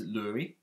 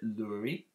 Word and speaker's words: Lurie: So as a business, we've recently launched our own brand, which is Lurie. That's how you pronounce it, Lurie. It means strap in Greek.